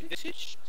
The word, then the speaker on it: Visage: I put a lot of effort into knowing how to pronounce the hero names correctly, and it's Visage.